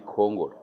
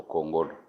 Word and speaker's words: Kongolo: Hari uburyo sound cyangwa se tonation yo guprononcer izina ryanje igora benshi ariko mu kinyamurenge ni Kongolo. Kongolo. Kongolo. Kongolo. Kongolo. Ariko abandi bakavuga ngo Kongolo. Zose biva muri sound umuntu avugira.